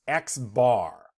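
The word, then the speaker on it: x̄: X with a line over it and that's pronounced x-bar you're talking about a population mean if you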